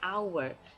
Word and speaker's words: hour: H you say an hour because in an hour the H is silent and it doesn't look